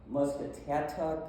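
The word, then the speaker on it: Muscatatuck: then Jeffersonville through Seymour, Musketatuck. I don't know how you pronounce that. Moscatuck. Thank you. Thank you, Claudia.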